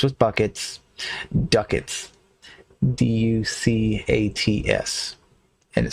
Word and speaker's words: ducats: The money in this game comes in coins called, rhymes with buckets, ducats. D-U-C-A-T-S. And it says it rhymes with buckets, so therefore it must be ducats.